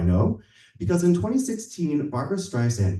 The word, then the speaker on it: Streisand: Barbara Streisand's last name is pronounced with a soft S and not a hard Z. How do I know? Because in 2016, Barbara Streisand called Apple CEO Tim